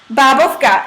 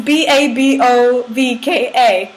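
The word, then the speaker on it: bábovka: Wait, so how do you pronounce that? Babovka. It's Babovka.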